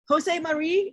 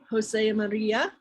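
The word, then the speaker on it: José María: if they have audio with an a at the end so jose maria okay very good well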